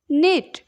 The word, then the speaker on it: knot: Next is नीट नीट कहले बुणीबा नीट KNIT नीट means बुणीबा eighty हमर के साइलेंट रहबो खाली हमें नीट ही पढ़िबा ओके।